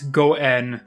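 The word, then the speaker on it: 五円: to be especially Lucky in Japanese 5 yen is pronounced as Goen this is a homophone for the word Goen meaning good fortune or fate I think that our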